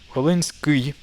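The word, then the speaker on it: Volynskyi: So Volinsky would sound good enough, but absolutely proper correct pronunciation is Volinsky. Volinsky. So vol I, this is the I sound. When you S, it's S with a softening. Like instead of saying Volinsky, you say Volinsky. A little bit more correct.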